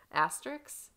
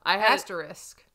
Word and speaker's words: asterisk: Asterix? Is it asterisk? I say asterix. That, me too, but look at the way it's spelled. I know. Asterisk.